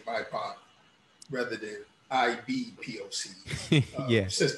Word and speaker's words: BIPOC: It popped up, and it's BIPOC, which rhymes with Tupac.